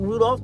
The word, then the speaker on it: Rudolph: Wilma Rudolph, just like Rudolph the red-nosed reindeer. What made her iconic?